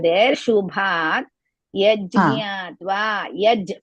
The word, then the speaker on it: यज्ञात्वा: Yajñatva. Yaj. First you should pronounce yaj. Then jnatva together.